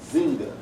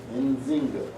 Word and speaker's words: Nzinga: All right, this word kind of hard to pronounce, y'all, but Nzinga, Nzinga.